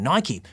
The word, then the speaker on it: Nike: Affleck and screenwriter Alex convery have filled this jordan-sized void at the center of the movie with Marketing Executives from Nike which rhymes with bikey BTW to settle that age-old